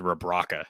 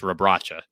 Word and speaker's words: Rabracha: She said Rabraca. It's Rabracha. So I'm nitpicking, of course.